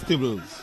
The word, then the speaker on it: Theobalds: I always question how in the world, for me, Theobalds is pronounced as Tibbles.